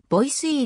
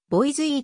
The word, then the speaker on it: Boise: にちなんでいる現地の発音はボイスいいであるがこれは shibboleth とも考えられ地元の住民以外には boys いいと発音されることが多いスネーク川支流の